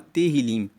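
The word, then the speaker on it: Tehilim: Tanto que no e no livro original, o livro de Salmo se chama Terilim. Se escreve T E H I L I M e Terilim quer dizer louvores.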